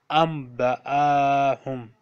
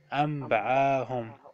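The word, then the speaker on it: أنبأهم: Similarly, in the next word, you see a small meme on the noon, so you will not pronounce noon, you will pronounce meme. Amba'ahum. Amba'ahum.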